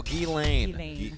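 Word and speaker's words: Ghislaine: yeah yeah gotcha right kazan how do you pronounce her first elaine elaine there you go gee lane elaine elaine maxwell i knew he was gonna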